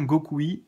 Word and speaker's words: Gokui: C'est comme ça se prononce, M-I-G-A-T-E, Migate, plus loin no, N-O, plus loin Gokui, G-O-K-U-I.